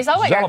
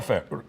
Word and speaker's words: Zellweger: 1969, Renee Yep, Renee Zellweger. Zellweger. I can't pronounce that.